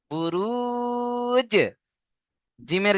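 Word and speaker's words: بروج: আগের অক্ষরের সাথে মিলিয়ে পড়তে হবে বুঝতে পারছেন বুরু জিমের জায়গায় ধাক্কা দিতে হবে বুরুজ তারপরে দেখেন মিম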